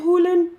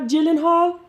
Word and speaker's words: Gyllenhaal: guy did you know it's pronounced even Hulan not Gyllenhaal I'm sorry I meant